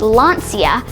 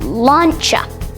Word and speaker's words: Lancia: It's owned by Fiat Chrysler Automobiles, or FCA, and it's not pronounced Lancia, but Lancia.